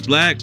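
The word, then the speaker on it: 6LACK: Jesse Reyes he said hi my name is black and sometimes people call me six slack I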